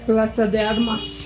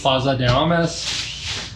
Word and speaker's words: Plaza de Armas: But our first day was really, you know, it was nice walk around the square, walk around Desarmes Square. I'm not saying that right. Plaza de Armas. Plaza de Armas.